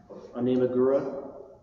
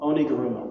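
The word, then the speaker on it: Oniguruma: It used to be Onimagura. Oh, sorry. How do you pronounce it? Somebody remember? Onigurumo? Onigurumo, that's what it is.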